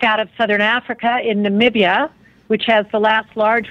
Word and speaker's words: Namibia: for future Generations okay and and is it nabidia how do you say the name of the country so it's a lot of people have a hard time pronouncing it oh with a v Namibia yes with the B okay okay okay got